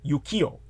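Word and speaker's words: 浮世: look up uh of course in Japanese it's Yukio UK Ki y o Yukio uh this was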